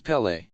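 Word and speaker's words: Pelé: be nice and so tried to correct their pronunciation it's Pelle Pelle but after a while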